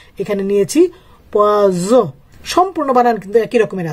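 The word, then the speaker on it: poison: তাহলে আমি এখানে যখন এস দুইটা দিয়েছি, পোয়াস লিখেছি যেটার অর্থ হলো মাছ, আর এইখানে একটা এস দিয়েছি যেটার উচ্চারণ হবে জ, পোয়াজ যেটার অর্থ হবে বিষ।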